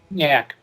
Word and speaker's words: Nyack: First up, New York is pronounced Nyack. Nyack.